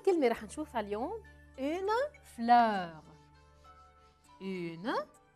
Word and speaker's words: fleur: بكتبوا بذات الطريقة ولكن بلفظوا je prononce d'une façon différente بلفظوا بطريقة مختلفة بفتح تمي أ وأول كلمة رح نشوفها اليوم une fleur une F L E U بهالطريقة بلفظها fleur